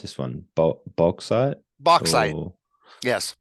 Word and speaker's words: bauxite: got zinc and I don't know how you pronounce this one bauxite bauxite yes box side it's for it's for creating aluminum aluminum for